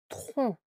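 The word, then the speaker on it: tronc: En général, il se trouve à la fin du mot comme dans tron blanc, le tron avec un C à la fin que l'on entend pas.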